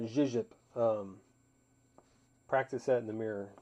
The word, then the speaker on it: YJXYJP: You pronounce that Zhizhip.